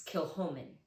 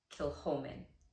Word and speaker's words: Kilchoman: bottles here we can talk about this is kilhomen kill holmen next one we have is the chick the